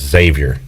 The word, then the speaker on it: Xavier: at the half bryce you don't pronounce the x in xavier and i uh struggle with that savior it's just xavier yeah see and sometimes